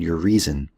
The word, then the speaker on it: Urizen: And so one of his characters, his mythological personalities, is a character called Urizen. And he was sort of punny that way. He made it sound like your reason.